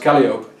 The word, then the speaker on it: Calliope: laughed at me because he thought it should be pronounced Calliope. But I believe Calliope is correct.